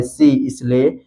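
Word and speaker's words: science: जैसे जैसे accent, accent में आप देख सकते हैं यहाँ पर यस के बाद आया है सी, इसलिए यहाँ पर सी साइलेंट है, सीधा पढ़ा गया है एसेंट।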